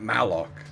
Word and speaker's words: malloc: foreign to other robots not morlock matt mallock as in memory allocation i might be